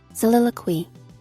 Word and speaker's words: soliloquy: What is siliqui? Wait, is siliqui the English grammar thing? Soliloquy. Ah, I'm pronouncing it so wrong.